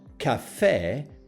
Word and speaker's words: caffè: Perché is stress in the last syllable, and the letter A has an acute accent, while caffè, that is still stress in the last syllable, the letter A has a grave accent.